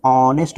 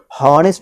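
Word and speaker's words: honest: एक बात ध्यान रखें कि यहाँ एच से लिखा गया वर्ड है, लेकिन यहाँ एच नहीं बोला जाता है, साइलेंट होता है, इसीलिए इसे हॉनेस्ट नहीं बोलेंगे, ऑनेस्ट बोलेंगे, ऑनेस्ट, ठीक ना।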